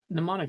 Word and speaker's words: mnemonic: that way i'm sorry mnemonic sounds right mnemonic the uh the m is silent this is looking a